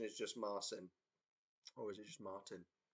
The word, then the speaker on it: Marcin: Sometimes it's in different languages. It looks like one thing, but the pronunciation is not how it looks. Is it a Marcin? Hello, correctly pronounced Marcin.